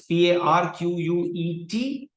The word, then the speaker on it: Parquet: Okay, it's PARQUET, but you can just, people pronounce it as Parquet.